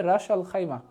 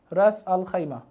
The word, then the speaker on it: রাস আল খাইমা: আমি খাইমা লিখে দিলাম এটা উচ্চারণটা হবে রাস আল খাইমা রাস আল খাইমা very good very good